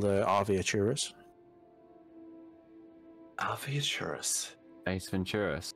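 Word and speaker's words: Arveiaturace: It's called Arviaturus. Arviaturus. Ace Venturas. How do you spell that?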